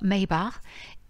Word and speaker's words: Mabon: sabbat de l'équinoxe d'automne mabon se prononcent normalement maybach et son nom se